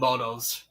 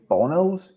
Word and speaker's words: Moto: They're called motos. Say, did you say bonos? I said modtos. Monos. Motor. Motos. Like motor without an R basically.